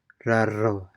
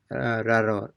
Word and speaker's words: raro: So it's more like, instead of raro, it is more like raro, raro, raro.